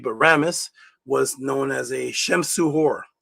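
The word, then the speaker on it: Ramesses: Ramis which is the actual real way to pronounce is not Rammeses that came from the Greek but Ramis was known as a Shemuhor.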